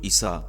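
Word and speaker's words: عيسى: পবিত্র কুরআনে তার নামের যে উচ্চারণটি ব্যবহৃত হয়েছে সেটি হল ঈসা।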